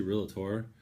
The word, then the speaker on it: realtor: throw this in here so how you pronounce realtor and it's actually real tour real a tour real tour so that's the proper way to say it don't add in the extra syllable and whatnot now that's